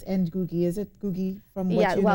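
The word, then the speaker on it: Ngũgĩ wa Thiong'o: So it's Gugi Wa Thiong'o.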